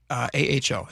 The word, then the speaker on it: Aho: Ferguson spokesperson Brianna Aho, AHO. Am I pronounced that right?